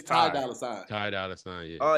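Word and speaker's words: Ty Dolla $ign: It's Ty Dolla Sign. Ty Dolla Sign, yeah. Oh, you don't spell it out?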